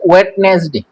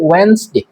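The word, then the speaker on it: Wednesday: তারপরে বুধবার, এটাকে অনেকে উচ্চারণ করে ওয়েডনেসডে। ওয়েডনেসডে, বুধবার, কিন্তু এটা সঠিক উচ্চারণ হবে ওয়েন্সডে। ওয়েন্সডে, ডাব্লিউ ই ডি, এখানে ডি এটা সাইলেন্ট থাকবে, সুতরাং এর উচ্চারণ হবে ওয়েন্সডে।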